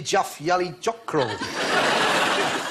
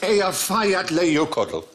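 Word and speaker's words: Eyjafjallajökull: Ye Jaff Yali Jockroll.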